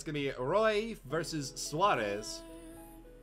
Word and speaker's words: Roy: Dope Shay says, say it as Roy, Woody. Oh, Roy. Okay, fine. The Israeli player is Roy.